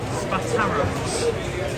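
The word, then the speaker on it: Spataro: way highly recommend it spatara that's how you pronounce it really really good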